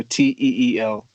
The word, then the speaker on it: Teel: So it's Teel Page and the Capital Club, and Teel spelled with two E's, so Teel.